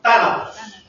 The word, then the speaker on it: Thanatos: Thanatos, como acento en la primera taje, Thanatos.